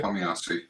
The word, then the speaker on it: Tomiyasu: Is it Tomiyasu? Perfect. Sakahiro Okay. Tomiyasu. Okay, there you go. I got it. I just didn't trust myself. But yeah, Tomiyasu has obviously been brought in, as a right back.